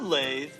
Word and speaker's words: lathe: wood lathe a wood lathe which is kind of a weird word it's spelled l-a-t-h-e lathe it will spin a